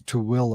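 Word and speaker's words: Tooele: we know where you're talking we can actually pronounce to willa i know it's like he said it right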